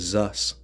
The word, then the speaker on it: Zeus: So we have another pronunciation for Zeus in Greece in the time period was Zus.